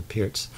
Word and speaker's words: Pirc: And the Pirc defense, sometimes called the Pirc defense because it's spelled P-I-R-C, but I believe it's pronounced Pirc, is this move knight f6 in combination with d6.